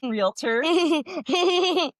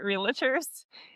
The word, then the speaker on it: realtor: There was a show called Santa Clarita diet with Drew Barammore where her and her husband were realtors, but they pronounced it realators.